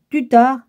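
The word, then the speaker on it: Tuttare: Ça s'écrit Om, O-M, plus loin Tar, T-A-R-E, plus loin Tutar, T-U-T-T-A-R-E, après c'est Tur, T-U-R-E, puis après c'est Soha, S-O-H-A, tout en majuscule.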